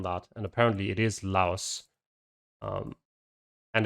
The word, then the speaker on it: Laos: and we're straight away back in lao or laos i actually recently read up on that and apparently it is laos um and it's just porn is trying to